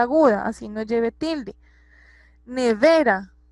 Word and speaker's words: nevera: Nevera, nevera, ¿cierto? Tiene el acento en la penúltima sílaba, entonces es una palabra grave.